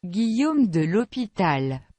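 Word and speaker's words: l'Hôpital: google translate so we can learn how to pronounce it okay that's not on any test guillaume de l'hopital but it's just cool it sounds awesome the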